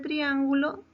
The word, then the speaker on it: triángulo: En la palabra triángulo también. Triángulo. ¿Cuántas sílabas tiene esa palabra? Triángulo. Comenzamos 3 sílabas, ¿verdad? Esa palabra tiene 3 sílabas. Pero ¿dónde lleva la tilde? Triángulo. En trián. Muy bien. En trián.